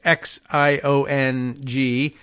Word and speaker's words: Xiong: In the 13th district, covering Warren and parts of Detroit, May, Zhang, it's Xiong, and I constantly am forgetting my Chinese pronunciation advice from all of you in this, but let's see.